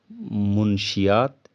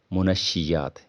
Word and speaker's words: منشیات: सुना होगा आपने की इसे गलती के तोर पर मुंशीयात या मंशियात कहा जाता है पढ़ा जाता है जबकि यह लफ्ज़ लफ्ज़ के साथ किया है मुंशी जाट नेम के ऊपर पेस है नून के ऊपर सबर